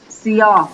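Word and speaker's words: سیاه: সিয়াহ, সিও, সিয়াহ মানে কি? সিয়াহ, উচ্চারণটা একটু খেয়াল করো, সিও, সিয়াহ।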